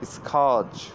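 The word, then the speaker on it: scourge: আরেকটি আছে এস সি ও ইউ আর জি ই, এটার উচ্চারণ হলো স্ক্যাচ, স্ক্যাচ, স্ক্যাচ, স্ক্যাচ, স্ক্যাচ, স্ক্যাচ, স্ক্যাচ, বুঝতে পারছেন?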